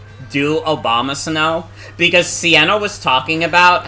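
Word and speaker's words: Abomasnow: actually a Pokemon named Obama Snow I mean it's spelled like abominable because it's like the Abominable Snowman but it's like basically pronounced like Obama Snow um that might that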